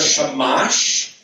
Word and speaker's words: shamash: This is called a shamash. It also sounds like the word shemesh, and in Hebrew, shemesh means sun, and this means lighter candle, like, you know, the strongest light.